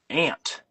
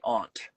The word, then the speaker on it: aunt: before, but um uh it says the word um aunt. Like it rhymes the word can't and au n. But I say aunt.